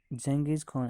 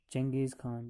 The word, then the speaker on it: चंगेज़ खान: इट was played by the likes of डोरियस, जंगीज खान and Alexander. इस खेल को जैसे दारियस, चंगेज़ खान, जिसे हम जंगीज़ खान भी प्रोनाउंस करते हैं, और चंगेज़ खान और सिकंदर आज़म जैसे लोग इस खेल को खेलते थे.